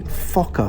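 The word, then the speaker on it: Fokker: parking was called the okay careful with the pronunciation here it was called the fokka farm what would they call it now the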